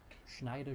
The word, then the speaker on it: Schneider: Just don't forget that ch is pronounced like the English sh. Schneider Schneider Schneider.